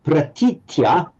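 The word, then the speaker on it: pratītya: in a short vowel, You don't say iya, you add a t, so it becomes itya. Itya, not iya, itya.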